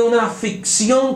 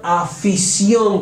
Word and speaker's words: afición: ficción esas personas de una ficción con el juego no no tiene una ficción con doble se tiene una afición con el juego tiene una afición por